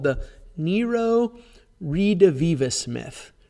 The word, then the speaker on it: redivivus: There's a thing called the Nero redivivus myth. Redivivus. Here's how you spell it.